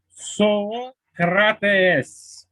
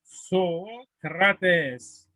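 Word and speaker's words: Σωκράτης: On le prononçait Socrates. Et je souligne le oméga, Socrates, parce que les voyelles longues donnent les voyelles doubles si on veut les prononcer correctement.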